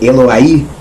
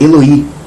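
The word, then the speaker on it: אֱלֹהַי: Mas não, meu Deus é Eloí. Porque teve flexão. Na hora de fazer a sufixação do possessivo que adiciona i no final, Eloá é Deus. Meu Deus não é Eloai, é Eloí, porque teve flexão, alterou.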